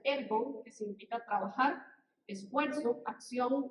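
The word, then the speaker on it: ἔργον: Como decíamos, la palabra obra viene de un término que se pronuncia ergon, que significa trabajar, esfuerzo, acción o hacer.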